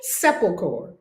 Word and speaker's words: sepulchre: Someone is going to help me pronounce this. Sepulchre. Thank you. Sepulchre.